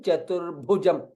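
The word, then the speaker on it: चतुर्भुजम्: Shashivarnam Chaturbhujam. Bha again is Mahaprana, is in green color. Hence Mahaprana. You will put extra stress there.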